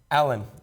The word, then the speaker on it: Alen: Alen.